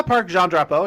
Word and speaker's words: Parc Jean Drapeau: Yeah, Parc Jean Drapeau, yep.